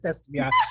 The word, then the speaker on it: Estefania: Please, but it's Estefania.